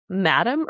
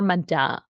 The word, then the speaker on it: madame: Archer works on behalf of a very influential Do you say madam or madame? Madame. I Madame. say madam. I think the French pronunciation would be madame, but we'll Madame.